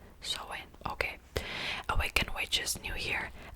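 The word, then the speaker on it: Samhain: maybe halloween but it's also semi pronounced so sawing oh have i been pronouncing it wrong my entire life sew in really so in okay awaken witch's new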